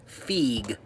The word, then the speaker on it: Feig: Okay, it's pronounced Feig and Dippold.